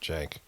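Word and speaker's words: Cenk: is from um is it's spelled C N K but I think they pronounce it Jenk and I don't I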